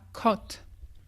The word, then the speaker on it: caught: Par exemple, si ça peut t'aider de marquer AW. C'est pour te rappeler, ah oui, il faut le prononcer un petit peu comme ça, caught.